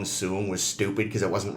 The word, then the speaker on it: Soong: and then the actors just started saying Soong because it has the double. because it has the double O.